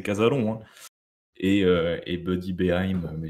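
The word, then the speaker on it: Cazalon: casalan qui est devenu il est français donc c'est casalon et et Buddy beheim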